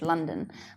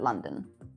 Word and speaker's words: Londyn: So the coach's name is Coach London, but I spelt it Londyn, like Landon, but London.